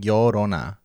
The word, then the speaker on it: Llorona: So it's like a Y sound. Okay, do it again. Like yo-yo, like llorona. Llorona? Llorona, yeah. You know how you can't roll your R's? Llorona? Llorona. Well, I guess you don't have to roll it. It's like a soft R.